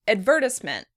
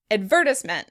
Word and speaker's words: advertisement: In British English, this word would be pronounced advertisement. Advertisement. In American English, we pronounce it advertisement. Advertisement. As you can hear, the stress in the American version is on the first syllable. In the British version, the stress is on the second syllable, and it really changes the way the word sounds.